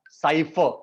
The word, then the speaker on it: cipher: सो जो नए बच्चे आए हैं, आई विल टेल देम कि whenever we pronounce in English, most of the time we don't pronounce R. Cipher, that's it.